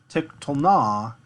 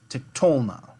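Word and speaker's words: תִּקְטֹלְנָה: So it's not tiktolna, it's tiktolna. Tiktolna. So this is 3 syllables, 3 full syllables, but we've shifted the accent to kind of break the flow of it up.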